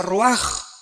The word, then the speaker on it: ruach: Aquí se usa otra palabra hebrea, que se escribe ruach, con R de Raúl, A-C-H, se pronuncia ruach.